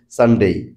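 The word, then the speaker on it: Sunday: বেশিরভাগ ক্ষেত্রে হয় তো আবারো বলছি যে সঠিক উচ্চারণটা হওয়া উচিত সানডেই সানডে বললেও চলবে তারপরেরটা তিন নাম্বার হচ্ছে মানডে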